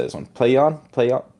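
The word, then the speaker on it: PLAION: Playon. Playon. P L A I O N. Playion.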